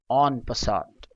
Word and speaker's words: en passant: that is what a fiango is first the pronunciation of this term on pant again it is French in origin and it